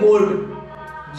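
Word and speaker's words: gold: ओ ए रहा है अगला वर्ड हम लेते हैं गोल्ड जी ओ एल डी यहां भी दी के पहले एल ए रहा है बट क्योंकि एन से पहले ओ ए रहा है इसलिए एल साइलेंट नहीं होगा अगला वर्ड है गोल्फ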